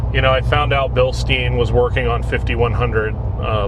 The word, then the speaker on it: Bilstein: You're gonna write Billstein. Billstein. Billstein over and over again. Billstein of the proper pronunciation of that.